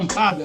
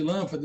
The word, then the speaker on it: lâmpada: Então ela faz isso, olha, essa sílaba aqui, essa palavra é proparoxítona e você está cantando, né? Por exemplo, lampada, né? Lampada, espírito, em vez de lâmpada, espírito.